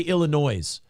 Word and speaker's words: Illinois: I hear people say Illinois. I go, are we supposed to pronounce the S?